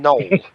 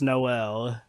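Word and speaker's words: Noël: that welcome to batman knoll a christmas one of the most critically acclaimed comic book stories ever wait chewy batman no did no ordinance write this comic it's pronounced noel noel oh yeah no well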